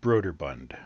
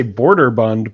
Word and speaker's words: Brøderbund: to pronounce broader Bund I've always said brøderbund brah I used to say border Bund but that's definitely wrong because not Wellborn now I